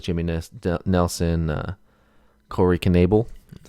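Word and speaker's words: Knebel: um guys like jimmy ness nelson uh corey knable that's how you say it quark naval um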